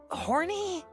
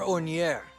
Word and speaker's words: Ornier: Sir Horny? Oh, say it right, my pupil. You need to respect the princess's acquaintances. This kind gentleman is Sir Hornier. It's Sir Ornier.